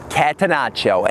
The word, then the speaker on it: catenaccio: The pronunciation is catenaccio, and the catenaccio soccer term is an Italian word for door bolt.